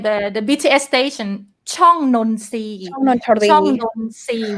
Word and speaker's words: ช่องนนทรี: Chong Nonsi. ช่องนนทรี Chong Nonsi. We don't say Nontri. นนทรี Toro we pronounce as so.